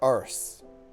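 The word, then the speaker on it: arse: Or ars. Either way. Now, did you know that if you pronounce a R S E with an English accent, it sounds exactly the same as ss because with an English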